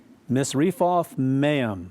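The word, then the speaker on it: Misrephoth-maim: Zidon, and into, this is a long one, Misrephoth Maim, that's how it's pronounced, and unto the valley of Mizpah, eastward.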